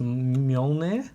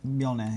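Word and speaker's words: Mjölnir: Now, I think it's pronounced Mjolnir. Mjolnir, yeah.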